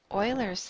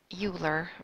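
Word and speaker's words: Euler: Assuming you have a connected graph, Oilers's theorem, I know that looks like Uler, but that's not how it's pronounced. It's pronounced Oiler.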